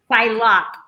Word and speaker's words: Psylocke: Psylocke. Psylocke. I always say her name wrong.